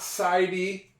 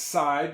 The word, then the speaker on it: side: Now, we notice that there's a silent e on the word side. It's not sidy. It's not sidy. It's side.